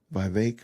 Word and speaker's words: Vivek: Charlemagne the goof what Vivek rhymes with cake wow is that right